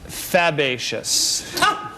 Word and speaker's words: fabaceous: The word, Elaine, is actually pronounced fabaceous.